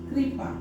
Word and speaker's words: कृपा: उच्चारण हो रहा है क और ऋ दोनों को मिलाकर बोल रहे हैं क्र तो हो गया य कृपा तो ध्यान दोगे उच्चारण अगर लिखा हुआ है तब तो इसका उच्चारण ऋ जैसा कर दोगे क में ऋ त्री और तब बोलेंगे पा अगर बो बोला जाएगा